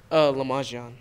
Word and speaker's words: Le'majion: Lamajian.